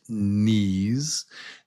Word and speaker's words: knees: The K is silent. It's just knees.